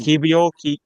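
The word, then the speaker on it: Kiwior: So any Polish fans watching, I think it's Kivio.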